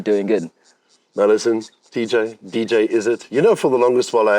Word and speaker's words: Izzit: I booked you for, you never corrected me that it's actually DJ Izzit.